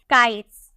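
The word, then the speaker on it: kites: मिल रहा है ना एस से पहले अगर आपका टी ई हो तो उसका प्रोनंसिएशन आपको 100 में करना है तो इसे हम क्या बोलेंगे काइट्स ठीक है काइट्स उसी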